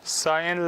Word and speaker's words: sign: Sign language, okay? G is silent.